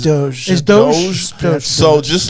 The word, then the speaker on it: DOGE: Doge or Dodge? It's pronounced Doge.